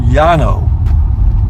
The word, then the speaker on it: Llano: of that stuff the Llano river ll ano in spanish the the two elves together is pronounced why in other words so in spanish it would be pronounced yon oh and it used to